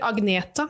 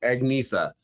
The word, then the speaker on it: Agnetha: people are the same over there and they pronounce stuff a different way, like Agatha. Is it Agneta you're thinking about? See, I knew it. See, I would have said Agnetha, but you said, say it again.